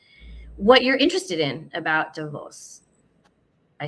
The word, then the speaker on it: Davos: this conversation um not because I was at DeVos as I've been informed is the correct pronunciation I may not always do that but